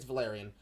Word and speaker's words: Valerian: Is it pronounced Valerian? Because I'm pretty sure it was. Yeah, no, Yeah. wait, you're right. It's Valerian.